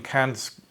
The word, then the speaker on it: Kant: So today we're doing a short introductory video on Kant. I have to make sure to pronounce it not in the German way.